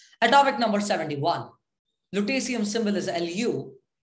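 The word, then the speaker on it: lutetium: an industrial catalyst metal structure in some alloys lutesia that's how it's pronounced atomic number 71 lutasium symbol is lu it's a solid at room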